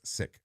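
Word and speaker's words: Sikh: A practicing member of the seek faith. Uh I'm mispronouncing it's sick, not not sik.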